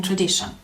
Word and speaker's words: tradition: So you may ask, where is the stress in tradition? Second syllable.